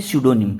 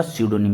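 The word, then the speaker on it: pseudonym: यही आपका, ठीक है, पी इसमें साइलेंट रहेगा। आपने क्या बोला, स्यूडोनिम। स्यूडो बोले तो क्या होता है, छद्म, क्या होता है, छद्म बोले तो छिपा हुआ, इसका मतलब, ठीक है, उसको अपन क्या बोल देंगे, स्यूडोनिम। पी इसमें क्या रहेगा, साइलेंट।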